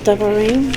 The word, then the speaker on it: Devarim: in Hebrew is called Devarim, which means words, and that is spelled with D-B-R-Y-M, or D-V-R-Y-M. That's Dalet Bet, which can make either a B sound or a V sound.